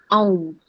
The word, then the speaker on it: aum: How you pronounce, how you chant aum, it's a u ma.